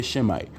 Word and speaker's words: Semite: it mean to be a Semite or she might which is the real wording which is the real pronunciation what does it mean to be a shemite that's what you got